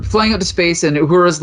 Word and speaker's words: Uhura: Did you say Ahura? Uhura. How do you say her name? Uhura, I think right? it's Uhura. Uhura.